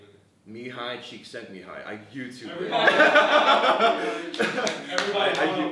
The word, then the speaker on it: Csikszentmihalyi: Can you pronounce that name again? Mihai Csikszentmihalyi.